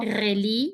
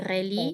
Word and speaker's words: relie: esta no me acuerdo, relie, no pronuncio la E final, qui relie, relie, que relie les principales villes du sin la pays, S, ville, villes du pays.